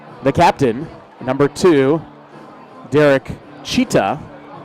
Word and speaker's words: Jeter: captain number two Derek cheetah which is actually a lot like the late Bob Shephard used to pronounce his name cuz he's number two Derek cheetah number two Jeter is very close to cheetah and then Ichi Roach